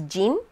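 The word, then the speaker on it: 人: in japanese is hito but it's not pronounced bihito because hito is not the only of that character the onyomi of that character there's a few but in this case it's jin so that this word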